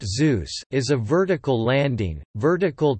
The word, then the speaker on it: Xeus: Xeus, pronounced Zeus, is a vertical landing, vertical takeoff lunar lander demonstrator.